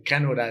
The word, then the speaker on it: Canorá: particular, y es que Canora es una palabra que no es tan fácil de pronunciar, es como Canora y tilde, entonces Canora, entonces Canora